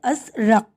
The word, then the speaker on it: ازرق: اور یہاں پر نمبر 4، لفظ ازرق کا درست تلفظ ہے ازرق.